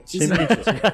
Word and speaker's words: Tzimisce: Tá, agora a gente sabe como se pronuncia. É Tizimite.